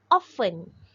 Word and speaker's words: often: pronounce this word okay it is pronounced often often often with the silent t how often do you